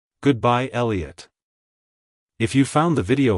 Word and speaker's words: Elliott: pronounced as Elliot Elliot Elliot to pronounce it correctly emphasize the first syllable e and then Lee and uht make sure to pronounce the T at the end softly like hello Elliott goodbye Elliott if you found the